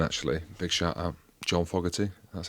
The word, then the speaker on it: Fogarty: John Fogarty.